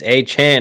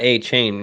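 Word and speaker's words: Achane: Zubat said it's Achan, not A-Chain.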